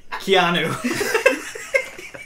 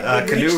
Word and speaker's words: Keanu: no it's spelled different it spelled like canoe but you pronounce it like Keanu he a little has a little Indian in him canoe Reeves it's Keanu it's